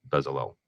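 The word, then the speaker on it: Bezalel: technical artists are the modern version of of bezel that's great and you na you you nailed the pronunciation there good job you know what you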